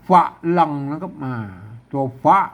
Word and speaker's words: ฝรั่ง: ก็ ไม่ พัด อ่าน ว่า ฝรั่ง เสียง เอง นะ มัน บอก ว่า นะ ครับ อ่า ก็ ปล่อย สัตว์ หลั่ง หรือ ฟ้า หลัง แล้ว ก็ มัน ความ จริง มัน ต้อง อ่าน ฝรั่ง นะ ครับ อืม ก็ อนุโลม ให้